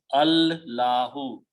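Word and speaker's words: الله: It is not pronounced. The pronunciation is Allahu.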